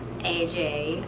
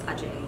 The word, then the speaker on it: Ajay: As some of you guys know, I recently got engaged to the love of my life, AJ. Actually, it's Ajay.